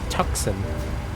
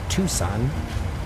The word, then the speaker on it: Tucson: other AI planes if people mispronounce the city I live in all the time too they're like oh it's tuxen no it is Tucson not tux do not tuxen I like these little